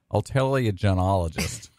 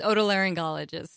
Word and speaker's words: otolaryngologist: Augustine ear nose and throat and she s a board certified help me pronounce this all tilia Joan ologist how's that I totally screw that up didn't I yes you did it's otolaryngologists why and you say